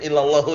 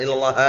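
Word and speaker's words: إلا اللهُ: mum salah e Naam jadi illallahu ya makanya bukan illallaha ya illallahu ada yang bacak illallaha tapi kurang tepat irabnya kurang kuat pendapatnya mum Insyaallah e berarti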